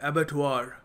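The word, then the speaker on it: abattoir: है इसके बारे में इसको प्रोनाउंस करते हैं एबटर एबटर यह होता है एक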